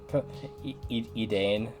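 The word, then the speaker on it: Edain: It's going to It's going to bug me if I don't confirm Edane. That's how they pronounce it on the wiki.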